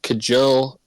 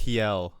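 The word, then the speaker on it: Kjell: that is a forward, Kajel Kasparov. Oh, that was butchered. Kasparov. Kasparov. I think Kasparov. it would be Kiel. Like, I think the J is a Y.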